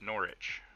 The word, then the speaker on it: Norwich: Silent W, like Norwich, is pronounced Norwich.